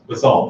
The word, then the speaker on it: basalt: gray Pacific basalt, I'm not sure how to pronounce that word, basalt, thank you, in two different colors of gray, light and dark granite.